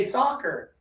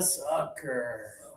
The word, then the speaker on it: sucker: If I say, "Wow, she believes everything people tell her. She is a soccer." She's a soccer? She's a sport No, oh, she's a sucker.